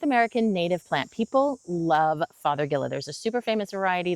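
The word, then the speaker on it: Fargesia: A lot of people will say Father Gia. Again, no wrong pronunciations, only wrong spellings, but it is Father Gilla.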